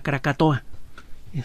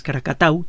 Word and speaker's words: Krakatau: Pasó una cosa similar a lo que sucedió con la palabra Krakatoa. El nombre real es Krakatau, todavía se llama así Krakatau, solo que los colonos holandeses en aquella época no sabían pronunciar correctamente la palabra Krakatau.